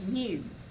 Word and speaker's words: mu: And that m stands for mean, and it's pronounced mu.